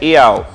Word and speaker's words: Yahweh: A pronúncia desse símbolo é Yahweh, Yod He Vav He, o tetragrama, YHWH.